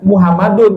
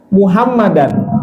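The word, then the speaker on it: محمدًا: kalau kita azan ya Saya pernah mendengar ada muwazin ketika menyebut azan itu ujungnya Muhammadun jadi asadu Anna Muhammadur Rasulullah ahah ini kurang tepat kalau menggunakan Anna dibacanya muhammadan Ashadu anna muhammadar rasulullah Jadi kalau Ajan Ashadu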